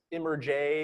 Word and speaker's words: Immerj: And again, I should also point out, it's Immerj is what it looks like. It's Immerj as an immersive journalism. This was Walter's conception here, but it's Immerj is immersive journalism, but it's pronounced Immerj.